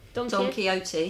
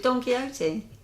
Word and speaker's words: Don Quixote: Don Quixote.